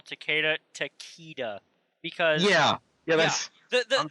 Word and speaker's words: Takeda: even the dev that in that video that he said that Johnny was in the game, he pronounced Takeda.